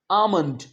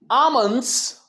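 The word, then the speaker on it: almond: सो इसे आलमंड या आलमंड नहीं कहना। मैंने बहुत बार देखा है। कई बार बहुत से बच्चे आइसक्रीम खाने के लिए जाते हैं। वो कहते हैं अंकल जी मुझे आलमंड वाली आलमंड वाली आइसक्रीम दे दो। आलमंड नहीं कहना। क्या कहना है? आमंड।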